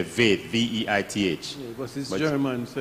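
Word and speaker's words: Veith: Some people say Veit, V-E-I-T-H. Yeah, but German. So it's German, he pronounced Veit.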